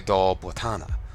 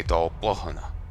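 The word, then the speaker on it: Dol Blathanna: They say Dal Botana. I would say Dal Bohana.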